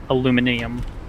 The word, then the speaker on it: aluminium: It could be the same way like European people say aluminium. Aluminium. Because it's just spelled like that in British English.